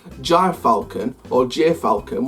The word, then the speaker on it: gyrfalcon: called Jai Falcon or gyrfalcon whatever it's pronounced as Gyr and Foulke it gy r and then falcon for next year i'm